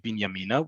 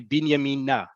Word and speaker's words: Binyamina: Normally, when in Israel, when we're saying the town of Binyamina, we say it like that, Binyamina. On the train, however, they're going to say Binyamina. They're going to put the emphasis on that last syllable because the train is going towards Binyamina, right?